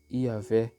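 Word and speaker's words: Yahweh: próprias em hebraico entretanto parece provável que a pronúncia original tenha sido yaveh o tanto por causa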